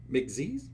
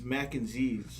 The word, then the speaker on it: Mac & Zs: So we can start off with, you got the name wrong. McZ's? It's Mac and Z's. Oh, Mac and Z's. Kind of like mac and cheese, but Mac and Z's.